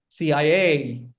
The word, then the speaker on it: CIA: Next, CIA. CIA. Again, put the stress on the last letter.